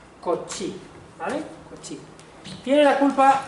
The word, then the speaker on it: Cauchy: Cauchy se escribe Cauchy, pero se lee algo parecido a Cauchy, ¿vale?